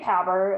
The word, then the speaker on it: PABR: that right the p-a-b-r institute or is it pronounced differently i say power as well i say poverty institute yes but